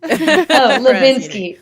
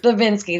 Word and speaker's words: Hlesbinsky: Hlesbinsky. Hlesbinsky. The H is silent.